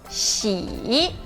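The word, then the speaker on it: 戏: Xi. Muito bom. E a palavra peça de teatro é XI no quarto tom.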